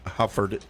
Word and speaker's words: Hufford: We've got Brian Hufford joining us.